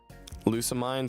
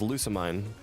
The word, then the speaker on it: Lusamine: Okay, half the chat is saying Lusamine and the other half is saying Lusamine. Lusamine. Okay, I'm gonna say Lusamine. I'm gonna say that. I trust more of chat is saying mean than mine.